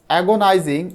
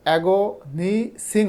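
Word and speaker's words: agonizing: ওয়ান অফ দা আচ্ছা এগোনাইজিং এটার উচ্চারণ কিন্তু এগোনিসিং হবে না এগোনাইজিং মানে একেবারে যন্ত্রণাদায়ক ক্রাইস ক্রাইস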